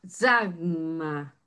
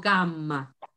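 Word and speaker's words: γάμμα: Para nosotros decimos gamma, pero en griego se pronuncia zagma. La Y se pronuncia como una Y. Es zagma. El sonido para nosotros es la G de gato, que es ga o ge.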